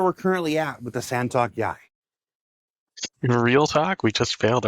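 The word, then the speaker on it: Santok.yāi: Santok Yai. It's pronounced just like it's spelled.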